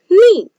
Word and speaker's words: knee: When K and N come together, then K is silent. So it is knee.